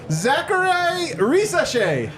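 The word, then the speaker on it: Zaccharie Risacher: And they are taking Pronounce it. Zachary Risashe.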